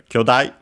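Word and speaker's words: 兄弟: also helps that um technically the accent also shifts uh it's accented on the first syllable uh means siblings. It literally uses the uh characters for uh older brother and younger brother, but it's often used as a siblings in general. But yeah, it's just as a reminder that uh vowel length is quite important in Japanese.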